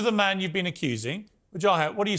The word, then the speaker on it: Wajahat: Wajahat, what do you say to that? Well, first of all, excellent pronunciation of my name, Brooke.